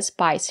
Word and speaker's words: spice: called a spice rack it comes from the word spice we have the letter I and the silent E we pronounce the letter i as the long eye like in hike and like spice it's countable so you